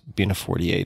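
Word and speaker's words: Bina48: who or what is being a 48 if i'm pronouncing that correctly yep you've got it perfectly so bina is the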